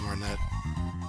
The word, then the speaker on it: Martinet: of that hey Charles martinet Mar hey Charles Martin I know how to pronounce the name but every time I read it I I I pronounce the T like a dingus yeah I think we'll